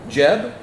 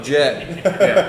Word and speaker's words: Jed: said it right because people say my name or i'm sorry and i tell folks my name and they're like jeb no no no no jed jared no chad oh jeff no jeff jeff no jeff yeah whatever yeah